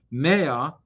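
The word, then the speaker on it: מה: and to love him do not pronounce the word ma as in what does hashem but rather maya which is 100 hashem asks of you hain maya brachus this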